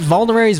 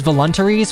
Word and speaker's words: vulneraries: I pronounced vulneraries voluntaries for like a decade. No one corrected me. I just like fucking threw a T in there and like everyone's like, yeah, sure, voluntaries.